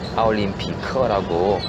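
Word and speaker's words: 奥林匹克: 여기 올림픽 그 지하철 보면 그 올림픽은 그대로 아올림피커라고 그 발음 나는 대로 이제 하나씩 음을 붙여 넣어가지고 이제 아올림피커 올림픽 음을 따와서 음역으로 썼는데요.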